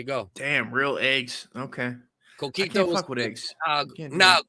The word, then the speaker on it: Coquito: Coquito, pronounced Coquito, is Puerto Rican coconut flavored eggnog.